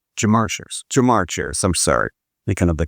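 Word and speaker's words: Ja'Marr Chase: Lamar Chase, did I pronounce that right? Jamar Chase.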